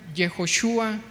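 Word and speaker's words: יהושע: Josué se pronuncia Yehoshua y tiene la definición de el Señor es salvación y salvado de Jehová.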